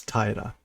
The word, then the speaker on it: 平: Or is it Taira? It's Taira. Taira. And it's still flat country. But it's pronounced Taira. Okay, so again, basically, if